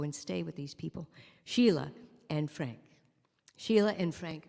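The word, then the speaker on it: Síle: have heard that name but sheila for the irish version of it is spelled s-i-l-e those crazy irishman this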